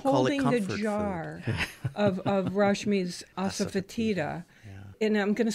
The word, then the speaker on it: asafoetida: So, asafoetida is spelled ASA as in asa. Fotida is FOE. There's the sneaky letter.